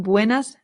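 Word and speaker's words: buenas tardes: So we say buenard. It's important to note that one r in Spanish does not roll. It's only with two rs. So, it's not, it's just buenard.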